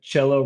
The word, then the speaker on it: cello: James, I like that cello rhymes with jello.